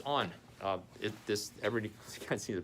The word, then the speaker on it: On: right now is called, the brand name is On. Where is it? Where is it? Where is it? Where is it? I can't find it. On. Cloudflare. Anyway, it's On.